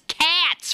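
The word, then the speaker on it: Katz: um so yeah Bobby Kates tells me Kates is spelled k a TZ now come on I ain't born yesterday I told her that ain't Kates that's cats for God's sake and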